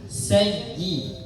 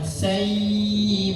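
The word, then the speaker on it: سيئة: Nah, ee suaranya sayyi. Nah, jadi bukan dipanjangkan, bukan sayi, bukan tapi sayyi.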